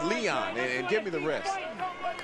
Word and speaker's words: Leon: It's Leon, not Eric.